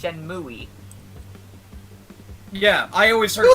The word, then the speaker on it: Shenmue: Just like how people tried to convince him that it was pronounced Shenmue.